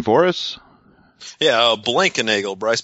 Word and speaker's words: Blankenagel: so let me introduce Bryce and Bryce can pronounce his last name for us yeah blankenagel Bryce blankenagel there it is I I don't know if